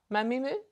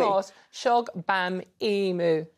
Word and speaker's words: Shogbamimu: Do it again and read it phonetically. Mamimu? You just missed the beat. Try again. Go on. Shola, welcome to the show. No, you will say my name. Now read it phonetically. Shola Mos Shogbamimu.